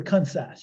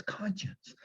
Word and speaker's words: conscience: have a pure conscience i'd say pure concise he says no it's conscience so i practice conscience